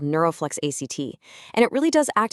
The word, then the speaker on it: ACT: This is the NeuroFlex ACT Compass. And just so we're all on the same page, ACT is pronounced just like the word act.